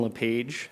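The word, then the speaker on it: Lepage: chair Robinson Commissioners again my name is Steven leage and that's spelled l e p a g e and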